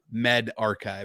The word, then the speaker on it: medRxiv: and those who are from yale university so metavericks rix is actually not how it's enunciated it's spelled m-e-d-r-x-i-v um which is why i've been